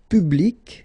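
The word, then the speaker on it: publique: And well, phonetically it is exactly the same thing. So, public at the masculine form feminine form public the same. Okay. Public public.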